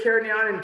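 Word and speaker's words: Cariñena: You have to say there's Carignan and Carignana, I believe, are both there, but I use the Spanish pronunciation because that's who I am.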